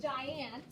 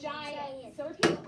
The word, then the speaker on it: giant: our next vocabulary word now if you look at it it starts with a g you're going to think it's going to say go but i love that